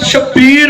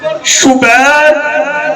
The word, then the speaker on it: شبیر: بات تلفظ کرتے ہیں شبر شبیر مشبر، ٹھیک ہے یہ بھی، لیکن میں حسین کے وزن میں پڑھ رہا ہوں شبر شبیر مشبر.